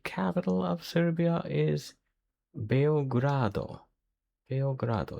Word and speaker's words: Beograd: Beograd. It's like Beyblade. Beograd.